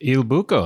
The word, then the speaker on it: Il Buco: hanging out today at Il Buco. It's Il Buco.